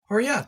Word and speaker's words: Horriya: do you say your last name hot horat that's what I was gonna say all right